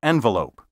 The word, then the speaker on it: envelope: The pronunciations envelope and envoy are pseudo-French. These words are thoroughly English and should be pronounced envoy and envelope.